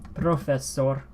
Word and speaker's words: profesor: it profesor instead of English when you double up on certain certain letters profesor profesor profesor profesor profesor profesor profesor profesor and professor you have two S's been professed sword of a sword it's one s all right so it's